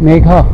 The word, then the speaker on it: Meghna: Megha? Yes. Okay. One of my relatives, her name is Meghna. So N is silent in your name.